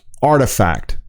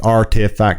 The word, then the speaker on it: RTFKT: bought in december and whose name is pronounced artifact okay i didn't get that at first artifact okay i got it